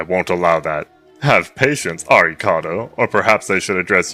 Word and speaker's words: Arikado: Arikado is the Japanese pronunciation for Alucard LMAO.